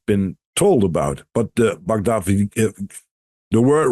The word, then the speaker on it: Bhagavad Gita: Oh, I don't know how to pronounce it correctly. It's Bhagavad Gita.